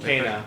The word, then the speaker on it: Kena: Kana. They were pronouncing it Kana.